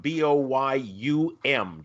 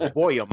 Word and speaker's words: Boyum: And that's Randy Boyum, Boyum, just so you spell that correctly. It's like Goyum, except he's Norwegian. So it's Boyum.